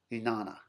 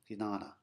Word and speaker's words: Jnana: That one thing is a word called Jnana. Jnana. It's spelled J-N with a tilde over it, A-N-A. Looks like Jnana if you pronounced it sort of phonetically in English, but Jnana.